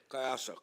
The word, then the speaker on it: Cohasset: And am I pronouncing it right? Cohasset? Cohasset, yes.